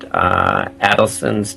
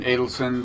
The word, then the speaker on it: Adelson: This is Sheldon Adelson, the Yeah, I've been told recently he goes more by Adelson, but does he? so I've been trying to correct my previous pronunciation.